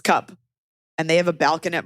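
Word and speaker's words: Cuup: by this company called I think it's pronounced cup excuse me cuu p c it's cup and they have a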